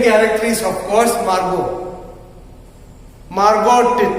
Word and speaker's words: Margot: Margot, T is not pronounced, T is silent. Therefore, it is Margot.